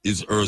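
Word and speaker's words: Eshe: And Ishe, E-S-H-E, Ishe means life.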